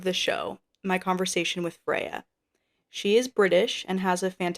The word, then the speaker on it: Freya: So, Freya, that's how you say it, right? Yeah, yeah, Yeah. Freya.